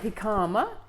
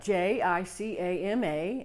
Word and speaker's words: jicama: So, what is a jicama? It's spelled J-I-C-A-M-A, and it's pronounced jicama, not jicama.